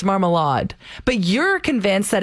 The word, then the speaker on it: Marmalade: like wait no it's marmalade but you're convinced that it's marmal law and i was like no no not a soft d it's a hard d trust me i think